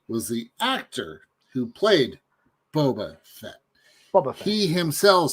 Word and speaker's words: Boba Fett: what that's my question is it bull bar or bobber it's always been bubble set it's boba fett baba bob because so